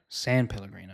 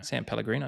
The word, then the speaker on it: San Pellegrino: San Pellegrino. San Pellegrino.